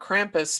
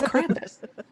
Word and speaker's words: Krampus: And that's why I love seeing all these different Krampus, because we're taking information that we knew of from the 17th century and we're still able to layer it onto modern interpretations.